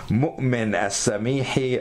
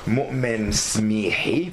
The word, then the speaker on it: Moumen Smihi: And our very special guest of honor, Moumen Smihi. I'm pronouncing it half Arabic, half French here.